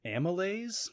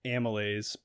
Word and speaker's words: amylase: It's called, I guess you pronounce it amylase, AMYLASE.